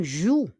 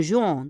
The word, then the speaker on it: jouent: On ne prononce pas l'ONT. C'est pas un jouant, hein?